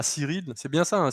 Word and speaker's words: Cyrille: originale à Cyril, c'est bien ça, hein, Cyril, c'est comme ça qu'on prononce. Oui, oui, oui, oui, oui, Cyril.